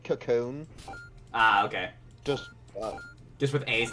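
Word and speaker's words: Kakon: It's meant to sound like Cocoon.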